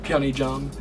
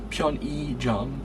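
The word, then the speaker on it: 편의점: But in this word here, pyeonijam, it uses that same pronunciation. So that's a good word to know, pyeonijam. So it uses that e sound there.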